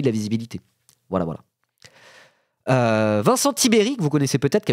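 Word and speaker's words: Tiberj: Oui, ça se prononce Tibéry, c'est bien ça, Tiberge, ça se prononce Tibéry.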